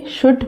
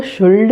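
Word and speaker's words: should: जब हम शैल से शुड पढ़ेंगे तो वो शुल्ड नहीं होता है, वहाँ पे L साइलेंट होता है।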